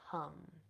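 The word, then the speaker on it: hm: sound here is hum it is spelled h m but pronounced hum okay so bringing your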